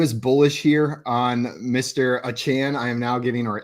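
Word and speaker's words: Achane: told in the chat he has declared he would like his name pronounced yeah so in the like the media day he said a chain was the pronunciation and now he's come out to say a Chan so I can't wait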